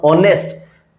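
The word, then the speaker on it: honest: आगे मैं बोलता हूं ऑनेस्ट एच साइलेंट है।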